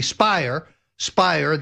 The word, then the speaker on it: Speier: Yet Adam Schiff and Congresswoman Jackie Speier, that rhymes with liar, claimed alternatively that that was not the case.